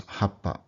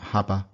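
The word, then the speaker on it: はっぱ: Another Japanese word is happa. Happa. So notice it's not happa, it's happa. And sometimes you'll hear people hold it for quite a while.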